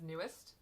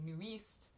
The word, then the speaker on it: NU'EST: because I've always said it as newest, and then now I can actually read Hangul, and I looked at it and I was like, wait a minute, this is not, it's not how it's pronounced. It's actually New East, and I'm pretty sure